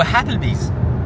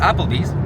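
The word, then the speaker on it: Applebee's: va aller manger au happle Bees il y a pas de H ça se prononce Apple Bees mais pour les fins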